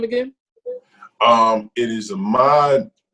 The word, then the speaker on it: Ahmaud: It is Ahmaud.